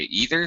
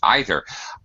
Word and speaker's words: either: Pronunciation-wise, again, English speakers, some say neither, some say neither, some say either, some say either.